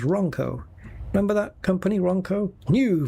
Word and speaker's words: Ronco: Even if I have to go to Wanco, which is how Jonathan Ross pronounces Ronco.